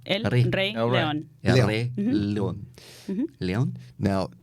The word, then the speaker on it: El Rey León: Real quick though, how do you say Lion King in Spanish? El Rey León. El Rey León. El Rey. El Rey. El Rey. Rey. El Rey. R-E-Y. El Rey. Like the theater.